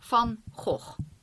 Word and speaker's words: Van Gogh: And it is the Van Gogh palette. Now, if you don't know, Van Gogh was a Dutch painter. So let me pronounce it in Dutch. Just for funsies. We say Van Gogh.